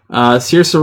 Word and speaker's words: Saoirse: Saoirse Ronan, which I believe is how you pronounce her name. Saoirse Ronan.